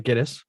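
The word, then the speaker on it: Gittes: And I noticed in the movie they pronounced that 5 different ways. So I'm going to say Giddis.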